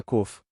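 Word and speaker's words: ק: A 19ª letra do alfabeto hebraico é cof. Se você quiser pronunciá-la, COF, COF.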